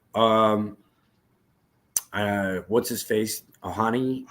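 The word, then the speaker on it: Ohtani: looked like it um uh what's his face ohani how do you say it Otani Otani $700 million dude yes sir 700 million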